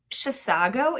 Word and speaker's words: Chisago: Chisago is tricky for me. Yeah. It looks like how it's spelled.